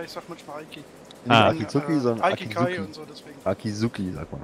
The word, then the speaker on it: Akizuki: Warum sagst du immer Aikizuki? Heißt das so? Spricht man das in Japanisch so aus? Aikizuki. Nicht das kann, das ist ein Akizuki, ja gut. Das ist kein I vor dem K.